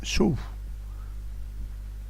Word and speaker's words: sol: Il semblerait en fait qu'on écrive sol, que l'on prononce sou.